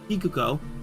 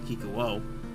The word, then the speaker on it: Kikuko: Kikuko, not Kikuo, completely different pronunciation, herself remains unfazed, citing